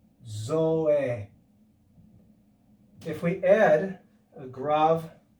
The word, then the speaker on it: grave: greek is called a grave it looks like grave but it's pronounced grav and you can see